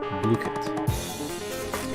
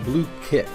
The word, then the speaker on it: Blooket: unique take on trivia and review games called blit now I know it looks like blit but it is pronounced blue kit blit uh as on their website so what